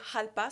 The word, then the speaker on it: Jalpa: partagé un article sur la Lamborghini jalpa ou halpa selon la prononciation parce que c'est un terme espagnol c'est une voiture des